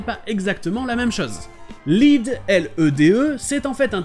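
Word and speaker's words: lede: Donc pour éviter de les confondre, ils ont écrit lead, L-E-D-E. Donc au final, bury the lead et bury the lead se prononcent de la même manière et veulent dire la même chose.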